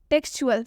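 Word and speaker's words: textual: टेक्सचुअल में भी टी दिख रहा है आप लोगों को, और टी के बाद से UAL आया है। टेक्सचुअल देख सकते हैं आप, यहाँ पर भी टी का उच्चारण च से हुआ है।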